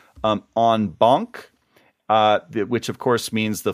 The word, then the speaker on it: en banc: And they both pronounce it in bank, which I thought was just dreadful and hadn't really heard much before.